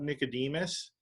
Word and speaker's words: Nicodemus: And I am real proud that I can pronounce his name because he has told me I am one of only 5 people in the entire country that was able to pronounce it right the very first time.